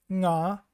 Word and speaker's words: か゚: They are pronounced nga, ni, ngu, nge, ngo. So basically the ng sound in the word king. This is a regional phenomenon,